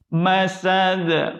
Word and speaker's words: مسد: Masad. Qalqalah lagi.